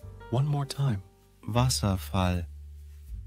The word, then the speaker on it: Wasserfall: or intriguing so let's dive into today's word Vasa which means waterfall in German let's say it all together Vasa one more time Vasa